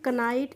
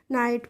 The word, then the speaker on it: knight: आपको रूल बताया है, किसी भी वर्ड में के और एन एक साथ आते हैं वहाँ पे तो हम के का प्रोनाउंसिएशन नहीं करते हैं, इसीलिए इसको हम कनाइट नहीं पढ़ेंगे, क्या पढ़ेंगे, नाइट पढ़ेंगे।